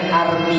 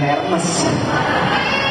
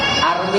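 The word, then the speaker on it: Hermès: masih pakai barang KW berarti bacanya Army bukan rmes Armi itu bahasa loh Kok bahasanya tulisan Hermes bahasanya ya itulah bahasa Prancis itu Bahasanya munafik tulisan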